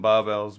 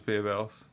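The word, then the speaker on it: Barebells: yeah babe else caramel i always just called them barbells but they do pronounce themselves as beer bells yeah yeah yeah 14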